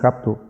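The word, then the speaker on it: ἅπτω: Y la palabra, bueno, no es que tal, pero es una palabra que en griego dice hapto, se pronuncia así, hapto, y lo usaban eso para prender fuego, ves que es algo diferente, ¿no?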